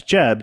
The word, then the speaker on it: Jebb: be like yeah it's Jeb j-e-b-b uh first B is silent yeah I'm doing that